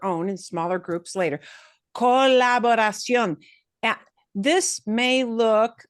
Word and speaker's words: colaboración: And which one do you punch harder? Well, that accent mark just tells you, yeah, you punch the O harder at the end, harder than the other syllables.